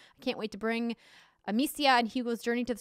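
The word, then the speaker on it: Amicia: for their trust i can't wait to bring amecia and hugo's journey to the screen is that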